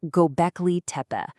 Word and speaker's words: Göbekli: So, let me introduce you to the main character of our story, Gobeci. And that's pronounced Gobeci.